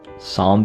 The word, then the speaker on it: Psalm: gotta be Soul right Psalm beginning silent P according to purr